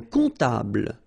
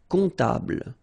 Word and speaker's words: comptable: Un comptable, so OM, remember it goes like on, alright? And then, strangely, this P is not pronounced. Un comptable, alright?